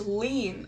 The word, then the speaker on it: Lynn: Oh, pronounced lean. Okay. Her name is Lean.